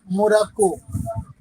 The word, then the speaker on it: Maroc: आपने नाम सुना होगा, मोरक्को, सुने हैं? Yes, yes, sir. उसको भी मस्कुलिन कंट्री के में रखा है फ्रेंच ग्रामर में। मोरक्को का स्पेलिंग लिखिए, MAROC, मारो। MAROC। और मारो, दिस इज मस्कुलिन कंट्री।